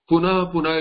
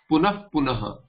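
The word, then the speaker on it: punaḥ punaḥ: Punaha punaha will become, so punaf punaha, that this is the only place where fa is pronounced punaf punaha, not punaf punaf punaha, not punaha punaha, punaf punaha. This is the only place where you will hear the Hindi fa, the way you say fool.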